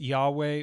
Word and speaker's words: Yahweh: text now even though that would have been pronounced Yahweh or something like that we notice that it's